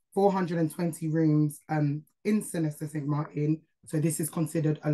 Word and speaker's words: Sint Maarten: side of the country um so it's actually pronounced St Martin and not St Martin which is the French side Maro Beach is